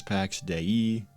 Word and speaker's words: Pax Dei: The Pax Dei name means the divine peace and is officially pronounced as Pax Dei, and I never pronounce it that way because I never remember to.